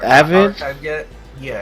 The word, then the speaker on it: AVYD: I think it's pronounced like Avid. It's AVYD.